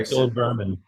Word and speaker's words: Stollenwurm: German uh originated word, so you can say Stollenwurm and be good. So how would the French pronounce that? I'm curious to see. Uh Stollenwurm.